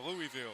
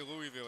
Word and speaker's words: Louisville: Or Louisville. Like I say Louisville and everybody's like, "It's Louisville."